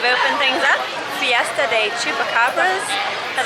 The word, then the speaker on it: Chupacabra: Chupacabra. Like a chupa? Yes. Kind of like chalupa, but without one of the syllables.